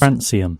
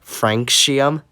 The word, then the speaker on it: Francium: Francium. Not Franxium. Like, geez, dude, you don't say Calcium or Maximus.